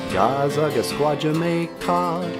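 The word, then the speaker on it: Gaa-zagaskwaajimekaag: Gazaga squad Jamaica.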